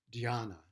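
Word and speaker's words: dhyana: chana and uh chana was the uh chinese pronunciation of the sanskrit word diana d-h-y-a-n-a and jana means meditation in sanskrit so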